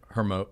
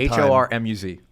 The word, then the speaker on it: Hormuz: Well, if you start shutting off the Strait of Hormuz, is it Hermosa? Hermosa I'm going to mispronounce Hormuz. Her. Hormuz. Yeah I look I, I have a hard Hormuz. There we go.